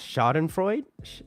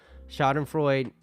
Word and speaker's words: Schadenfreude: I think it's pronounced Schadenfreude.